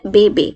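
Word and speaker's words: bébé: भी लगाया है, और इससे हम बेबी को ऐसे पढ़ रहे हैं बे बे। हल्का सा जैसे हम ई की मात्रा लगाते हैं ना, वैसे ए आप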